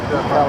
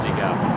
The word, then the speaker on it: decal: There's decal, there's decal, also an accepted pronunciation. I've heard decal, too. Yeah. Depends on, apparently it's regional.